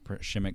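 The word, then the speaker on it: Przemek: I want to see another game with Shimmick Karnowski or Przemick. Am I saying it right, Lucas? It's spelled Prismac, but it's pronounced Shimmick.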